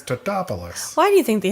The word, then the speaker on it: Tatopoulos: Oh, and people are always getting his name wrong, which is hilarious. Every time people see him, they're like, Mr. Tatapatopoulos. And he's like, it's Tatopoulos.